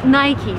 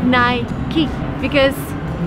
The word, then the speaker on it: Nike: Who's got Nike shoes? The correct way to pronounce this brand name is Nike, but that's very American. If you travel abroad, people would say Nike, but the right way is Nike.